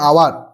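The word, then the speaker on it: hour: তাহলে এই যে উচ্চারণটা ভাওয়েলের মতো হচ্ছে বা এই যে উচ্চারণটা উজ্জ্ব আছে, প্রত্যেকটা দেখো অ্যান আওয়ার, আওয়ার, এটা কি হচ্ছে?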